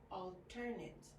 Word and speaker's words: alternate: And this word also has an asterisk, which means it can also be pronounced alternate. So you can say alternate when it's usually used as an adjective, or alternate when it's used as a verb.